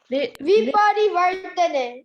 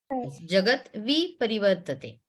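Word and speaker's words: विपरिवर्तते: V, just if it becomes harder for you to pronounce, you just separate out the V from it. V parivartate. Jagat Viparivartate.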